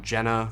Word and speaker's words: Jena: Alright, so I think it's Jena, not Jena. I'm pretty sure Jena is the German pronunciation.